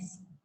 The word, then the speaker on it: sigma: Nah, apabila resultan gaya besar, nah resultan ini loh, simbolnya sigma, ini bacanya sigma.